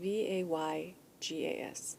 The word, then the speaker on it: Vegas: how do I say Vegas? You say it like Vaygas. Vegas. Nobody says. How do you say it? Vegas with a like an E, but you have like a long A.